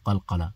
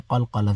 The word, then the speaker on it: قلقلة: Okay, look, qaf, when qaf has a sukoon, you don't pronounce it like aq. No, you've got to hit it a little bit.